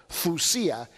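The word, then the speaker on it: θυσία: Así se deletrea, Thyysia, ¿no? Pero se pronuncia thusia. La Y en griego es doble O, thusia.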